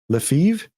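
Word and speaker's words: Lefèvre: Uh there is a very good book called uh reminiscences of a stock operator by Edwin Levra Lefiv. It's like Brett Favre, right? It's spelled weird.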